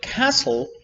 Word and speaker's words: castle: French words like ballet but also much like castle or listen right normally we do say listen